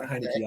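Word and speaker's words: Heinicke: Yeah, that's how you say it, Heineke.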